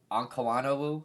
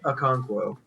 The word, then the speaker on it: Okonkwo: Zach Ertz was phenomenal, but mind me on my pronunciation. Check Awano Onkawanowu or whatever. I forget his last name. Chig Okonkwo.